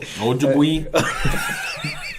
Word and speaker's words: Ojibwe: And it's been whispered about for centuries among the Cree, the Ojibwe, I think I'm pronouncing that right, and other Native American. Algebra, crazy. Bro, what? Ojibwe? That's how you pronounce it.